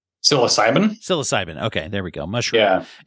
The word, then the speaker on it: psilocybin: Now, when we say, how do you, gosh, I always mispronounce the word, by the way. It's a psychosilium. How do you say that? Psilocybin.